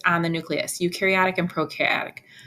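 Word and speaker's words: prokaryotic: the nucleus eukariotic and procaryotic pro rhymes with no so no nucleus U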